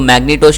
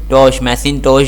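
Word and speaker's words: Macintosh: तो मैग्नेटोश क्या होता है और IBM क्या है, मैग्नेटोश जो है हमारे पास मैशिनटोश जो है हमारे पास, अच्छा इसकी जो प्रोनाउंसिएशन जो है ना MACIN मैशिनटोश जो एक PC है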